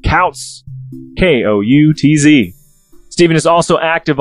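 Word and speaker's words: Koutz: But if you want to search the author yourself, it's important to note that his last name is spelled K-O-U-T-Z. I said Kautz, K-O-U-T-Z.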